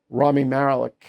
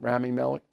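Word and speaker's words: Rami Malek: So, I went to see Nuremberg last night, the movie, Russell Crowe and uh Ramy Marik, I think that's how you say his name, Ramy Malik.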